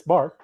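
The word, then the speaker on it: $BAR: How do you say, just say bar, or you say dollar bar? No, it's money sign. It's bar. Yeah. Yeah, money sign bar, which allows fans to participate in certain club decisions.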